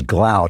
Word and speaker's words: Glaude: here is i think his name is gloud he pronounces it glaude it's eddie glaude is